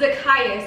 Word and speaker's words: Zakius: Yeah, it's Zakius, not Zakius. And I was like, thank oh, you for I that heard.